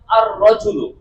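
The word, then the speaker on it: الرجل: আমি যখন রজলুনের উপর আলিফ লাম যুক্ত করলাম তখন বললাম আর রাজুলু। যখন জান্নাতের উপর আলিফ লাম যুক্ত করলাম তখন বললাম আল জান্নাত। তার মানে এ আর রজুলের লামটি উচ্চারণ হচ্ছে না।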